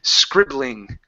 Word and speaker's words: scribbling: Don't add a sound before the s. It's quickly scribbling.